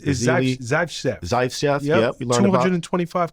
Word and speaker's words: Zaitsev: I can't pronounce his last name. It's Zaitsev.